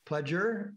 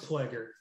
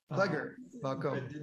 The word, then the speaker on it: Ploeger: pronounce your name right it's pronounced plaguer plugger don't worry it's it's a good german pronunciation okay all right i'll